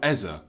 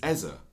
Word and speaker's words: Eze: He's moved to North London and it's now Ez. What's What's happening there? I don't know. But he's come out and said it's Eza.